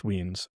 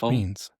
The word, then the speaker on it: Weens: He informed me as Chris Weens. We were saying it wrong this whole time. We were really going with lines, weren't we? Yeah, we were. So it's Chris Weens.